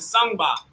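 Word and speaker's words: sangban: This is called the sangba. This is called the sangba. How do you spell that? How do you spell that? S-A-N-G-B-A-N. Sangba. Okay. The N goes away.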